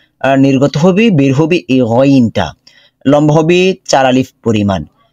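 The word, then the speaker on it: غين: নুক্তা চলে আসবে তখন এটার নাম হয়ে যাবে গাইন গাইন আচ্ছা মাখরাজটাকে আমরা দেখে নেই কণ্ঠনালীর উপরিভাগ অর্থাৎ আমাদের জিহবার যে শেষ অংশ শেষ অংশ এবং গলার শুরুর অংশ এখান থেকে নির্গত হবে বের হবে এই গইনটা লম্ব হবে চার আলিফ পরিমাণ গাইন গইন গইন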